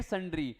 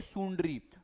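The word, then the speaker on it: sundry: तो fence all एंड संड्री नालायक बच्चे इसको क्या बोलेंगे सुंडरी तो मेरे भाइयों सुंडरी नहीं है यह क्या है संड्री ऑल एंड संड्री इसका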